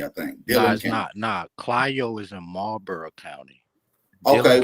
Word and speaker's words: Clio: Hey, Bap, it's pronounced Clio, not Cleo.